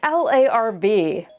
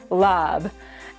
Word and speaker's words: larb: The common spelling of this dish is L A RB, but it is not pronounced larb.